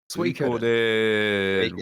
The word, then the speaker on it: Suikoden: Suikoden? Suikoden.